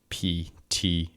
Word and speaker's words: Ptolemy: Ptolemy, by the way, is spelled with a P at the beginning. Ptolemy.